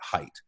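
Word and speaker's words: Haidt: Jonathan Professor Jonathan Hite spelled H AI D T but he pronounces it Haight who looks at both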